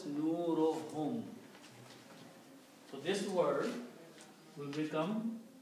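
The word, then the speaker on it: نورهم: So when you combine these 2 together and read, one dhamma is not read, so it is pronounced as nurohum.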